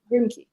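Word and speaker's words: Grimké: Grimke. Grimke. Grimke. Grimke. Grimke with an accent over the E.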